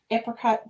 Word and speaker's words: apricot: Is it apricot or apricot? I think both are acceptable.